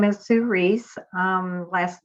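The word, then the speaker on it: Ruiz: My name is Sue Reese. Last name is spelled R-U-I-Z.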